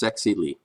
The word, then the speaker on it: Zexi Li: The Wuhan virus woman said her name is pronounced Zexi Lee.